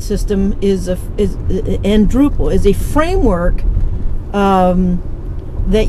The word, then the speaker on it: Drupal: that's Drupal it's spelled d r u p a l it sounds like the Dutch word for Village that's how it's got